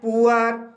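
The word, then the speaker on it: poor: आ होता है, जैसे पुअर। पुअर शब्द में डबल ओ के बाद आर आया है, इसलिए यहाँ पर डबल ओ का उच्चारण ऊ आ हुआ है, इसलिए इसे पुअर पढ़ा जाता है।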